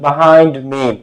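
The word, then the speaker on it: behind: পিছনে ছিল সবা স্ট্যান্ডিং বাহাইন্ড এটার উচ্চারণ বিহাইন্ড না বাহাইন্ড ঠিক আছে আবার আমাদের বাড়ির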